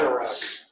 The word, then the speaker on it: Anurag: How do you pronounce his name? Anurag? Yeah, Anurag.